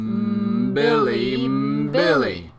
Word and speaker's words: mbili: You don't need an M to spell mbili, but you need an M to say it. It's pronounced mbili. Just hum a bit before you start.